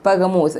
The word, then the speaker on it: Pergamum: person like Burger Mark actually it is pagama but its modern pronunciation is pagamos which we are calling it present so